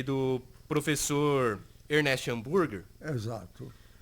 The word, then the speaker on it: Ernest: Eu me lembro que tanto o Moisés como o Ernest, na verdade a forma de pronunciar é esta, Ernest, eles tinham conseguido manusear os equipamentos de física experimental que existiam no colégio.